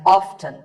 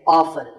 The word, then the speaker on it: often: Some pronounce this as often. Now, strictly speaking, often is not wrong, but the more common pronunciation is with the T silent. So I recommend that you always say often.